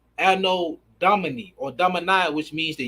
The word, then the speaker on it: Anno Domini: then it's AD, which stands for which is pronounced Anno Domini or Domini, which means the year of our Lord.